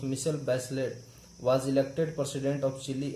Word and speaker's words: Michelle Bachelet: That girl, Michelle Bachelet, pronounced Michelle Bachelet, was elected president of Chile in January 2006.